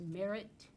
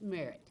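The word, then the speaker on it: Mare: mr chairman i believe his last name is pronounced merit and it's spelled m-a-r-r no no it's m-a-r-e okay but pronounced merit correct and also just to add on to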